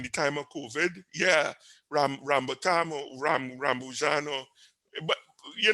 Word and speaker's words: rambutan: But what's the name of Rambatan, I it? think. Rambatan or something. Is the name of it, Rambatan. sir. Somebody help me out with the pronunciation. Rambutan.